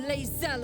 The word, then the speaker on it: Lae'zel: I am Lae'zel of Kalir. Lae'zel. Lae'zel of Kalir. Okay, so it's like spelled... If you spell it in German, it would be the same, like Lae'zel.